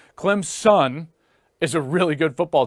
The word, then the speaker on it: Clemson: Clemson fans are like it's not Clem's in its Clem's son I'm like really like